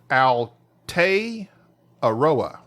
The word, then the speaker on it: Aotearoa: from and he says he spells it out phonetically for me thank you al tay arowa he says so i